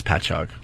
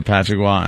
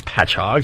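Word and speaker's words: Patchogue: Uh it's patchog. Okay. But my uh my fiance huh is not from Long Island. So Oh, does she say patchwa and hapagwa? Yeah. No, she doesn't. Because that's how it's spelled. Patrick. Yeah. She doesn't know it's patchhog.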